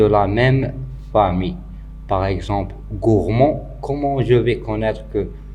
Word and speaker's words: gourmand: Par exemple, gourmand, comment je vais connaître que gourmand va se terminer par D? Donc, on doit chercher des mots de la même famille qui ont le même radical. Donc, gourmand, c'est un adjectif masculin.